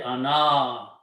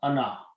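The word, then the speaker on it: أنا: This means that this alif should not be pronounced. Okay. Do not say ana, because if you stretch this word, then you are actually pronouncing noon and alif together.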